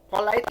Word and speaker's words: polite: Polite ini kalau dalam bahasa Indonesia dihitungnya 3 suku kata, tetapi kalau bahasa Inggris bukan pada berapa banyak hurufnya, ya, tetapi pada pengucapannya. Polite, polite, polite. Itu jadi 2 suku kata.